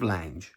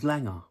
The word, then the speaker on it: Lange: So many people, talking of Lange I've heard some people go his name's Langer. Lange I call him Lange.